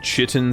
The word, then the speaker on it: chitin: Chitin is a word that does not sound how it's spelled.